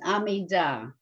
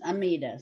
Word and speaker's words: Amidah: You all know what the Amidah, the Hebrew pronunciation is Amidah. The Yiddish way is Amidah. So I don't care what you do, what you say. I've sort of gotten used to saying Amidah because one of my principals insisted on it.